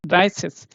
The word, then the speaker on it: dreißig: Okay, double S, right? Dreißig. And when you have this at the end, you know it is how it is pronounced. Dreißig. Cis. This combination becomes so that becomes Dreißig.